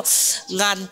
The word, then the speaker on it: Nga: My name is also Ngan. Ngan. No. Ngan. I'll spell it. N-G-A-N-G-A. We pronounce it Nga.